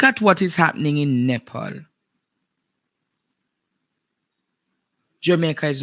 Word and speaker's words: Nepal: But I want you to all look in Nepal or Nepal is what the country is pronounced.